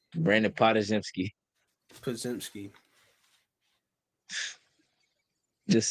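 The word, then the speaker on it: Podziemski: They got Brandon Podomzinski. Mm-hmm. Um He looked good. I Who? said his name wrong. AirPods. Spajemski. I fucking said Pazimski. Brandon Podajemski.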